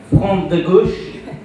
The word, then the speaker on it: Front de Gauche: And we've got Danielle Bono, who is from the Front de Gauche, the correct pronunciation, the left front in France.